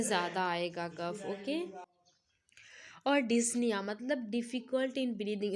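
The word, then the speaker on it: dyspnea: आएगा कफ ओके और डिसन मतलब डिफिकल्ट इन ब्रीदिंग इसका सही प्रोनंसिएशन जो होता है वो डिसन होता है ठीक है पीस साइलेंट रहता है इसमें एंड फीलिंग वेरी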